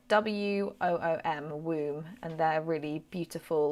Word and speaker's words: Woom: It's spelled WOOM, Womb, and they're really beautiful like choral music.